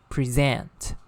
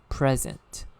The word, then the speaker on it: present: on the second syllable the third pair when it is used as a verb is present present the stress falls on the second syllable and when it is used as an adjective or a noun it is stress on the first syllable present okay present so be